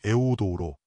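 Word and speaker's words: εὐοδόω: 원문에서 잘됨은 같은 단어이며 헬라어 발음은 에오우도우로 매우 순조로운 풍성한 여행이라는 뜻입니다.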